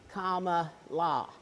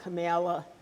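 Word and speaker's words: Kamala: did a instruction about how you pronounce her name comma La not camela not carela Cara so um but anyway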